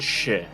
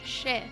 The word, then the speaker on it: Shih: His name is David Shih. Oh, I'm glad you said that because I would have pronounced it wrong. Shit.